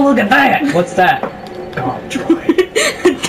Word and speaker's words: Gonk: Gonk droid. Donk droid. Gonk droid. No, it's a donk. The donk. It's a donk. Gonk. Donk. Gonk. Donk. Gonk. Donk, bitch! It's pronounced gonk.